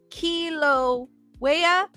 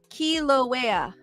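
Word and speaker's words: Kīlauea: quiet is spooky Diane goes pronounce kilo waya thank you Diane I knew I was I was pronouncing it kiloa kiloa I knew I wasn't pronouncing it right thank you Diane D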